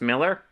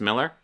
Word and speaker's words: Millar: get over the fact oh is it just pronounced Miller I'd assume because a was Millar but maybe it's just Miller fact that well some